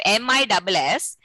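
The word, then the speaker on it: Ms.: The pronunciation of MISS and MS, both the pronunciation is miss only.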